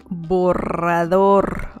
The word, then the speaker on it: borrador: Borrador, borrador. So you really need to roll your R there.